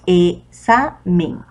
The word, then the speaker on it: examen: Bien, la segunda sílaba es la que suena más fuerte, examen.